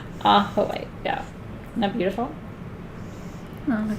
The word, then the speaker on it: Ajoite: I've heard people pronounce it Ajoite, and I'm always like, you don't speak Spanish, do you? Ahoite, yeah.